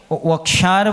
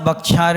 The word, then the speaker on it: वक्षार: द्वीपे बोलना, क्या बोलना, वक्षार बोलना, बक्षार नहीं बोलना। क्या बोलना, बा और वा में बहुत अंतर है।